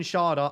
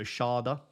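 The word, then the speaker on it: Schade: then we've got Kevin Sharda and apology from mispronouncing it is I think it's German so Sharda I think that's correct he is someone again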